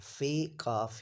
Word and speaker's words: فقہ: अच्छा इसमें यहां पर यह लफ्ज फे काफ हे जो है इसमें हे आपने साइलेंट कर देना है और इसको पढ़ना है फिक फिक का मफू और